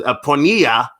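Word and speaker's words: πορνεία: Pornea.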